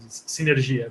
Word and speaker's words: Synergia: It's a Portuguese word, synergia, but you can call it synergia.